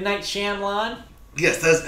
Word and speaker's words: Shyamalan: This is because when Shyamalan approached Disney... Shyamalan. Yes. That's how we actually say his name.